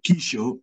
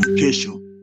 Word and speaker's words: kesho: You will say Kisho instead of Kesho.